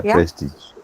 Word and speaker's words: prestige: treasure is right answer treasure is also the sound right so this is a very uh specific sound to English this consonant sound is